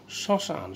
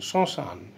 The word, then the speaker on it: শ্মশান: দন্তস্বরিত ম ফলা আছে, শ্মশান, শ্মশান, স্মরণ, কিছুটা নাসিক হবে, কিছুটা স্ট্রেস দিয়ে এটা উচ্চারণ করতে হবে।